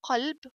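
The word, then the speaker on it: قلب: So this kaf, kalb. Kalb means dog. Here qaf, if I pronounce this kaf, qaf, we say and said qalb, qalb will be heart. So don't say heart kalb and don't say dog qalb, okay?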